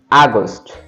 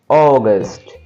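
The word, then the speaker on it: August: আবার আমরা বলি আগস্ট আগস্ট বাট সঠিক উচ্চারণ হচ্ছে অগস্ট অগস্ট।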